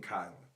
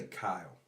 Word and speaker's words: Kylan: It's Indy and Kylan. I didn't say Kyle. I said Kylan.